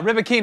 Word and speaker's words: Rybakina: So that's minus 165, and then Halep versus Rybanka. Is that how you say it? Something like that. Here, use your Rybakina. Rybakina. Yeah, Rybakina.